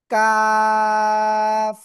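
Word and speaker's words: كاف: অক্ষরের নাম কি জানেন কাফ ওই যে জিহ্বার গোড়া গোড়া থেকে একটু আগে বাড়াবে একটু আগে বাড়িয়ে তার বরাবর উপরে তারুর সাথে লাগিয়ে চার আলিফটা নিয়ে উচ্চারণ করতে হবে কাফ ঠিক আছে জোরে জোরে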